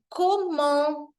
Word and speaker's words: comment: Quando você vai fazer uma pergunta, a gente fala comment, exatamente como eu escrevi aqui, ó. Tem essa nasal no final que eu preciso pronunciar.